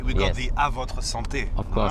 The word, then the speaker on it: Avotre: I'm going to pronounce it in French, right? Of course. Avotre.